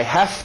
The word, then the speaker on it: have: Necessidade, virando F, I have to work.